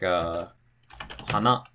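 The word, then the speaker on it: 花: Or maybe it drops after the second syllable, like hana.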